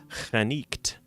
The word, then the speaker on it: knight: So the word knight, for example, like a knight in shining armor, was pronounced chanikt.